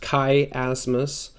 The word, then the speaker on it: chiasmus: It's pronounced chiasmus.